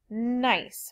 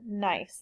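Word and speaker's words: gneiss: is shist and also nice which is not pronounced Guinness it is called nice this is the nice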